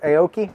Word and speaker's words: Aoki: edition Dos Equis here how do you say his name Steve okori Steve Aoki Steve Aoki right I've never heard of